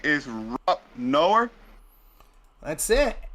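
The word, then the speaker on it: Noerr: Is Rob Noer? That's it. Nor, like the conjunction. N-O-R is how it sounds, but it's spelled N-O-E-R-R, but yeah, it's pronounced just like the word nor.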